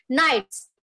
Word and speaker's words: knights: the k is now you are not going to pronounce the k it is just pronounced as knights not pronounces d is